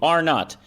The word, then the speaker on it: R naught: R2, R naught. That's how it's pronounced.